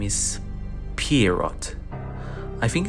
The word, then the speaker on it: Pierrot: We find out that his name is Pierrot. I think it's a Portuguese name, so the T is silent, so it's probably just Pierrot.